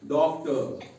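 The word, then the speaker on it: doctor: उसके बाद डॉक्टर।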